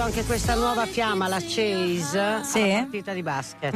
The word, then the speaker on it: Chase: occasioni in compagnia della collega questo è difficile Cheese sui Wonders hai Allora scritto Cheese come formaggio No Appunto Lo sapevo c a s e Chaz Chase Chase Chase sui scritto come Come si pronuncia